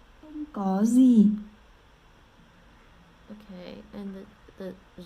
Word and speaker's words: Không có gì: Không có gì.